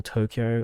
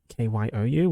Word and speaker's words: Tokyo: If you wanted to use the Hepburn method, it would be like Toukokyu, which is like tall kyo, which is really wrong.